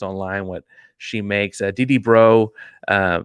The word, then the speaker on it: Breaux: Dee Bro, spelled like the most Louisiana bro, Breaux, was the last head coach I found info on.